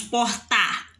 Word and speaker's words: porta: forte nós não falamos portar nós falamos porta então o pó é o mais forte essa palavra que é